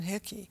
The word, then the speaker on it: Hickey: who would want Marilyn Hickey you know how do you spell her last name it rhymes with sticky you see folks you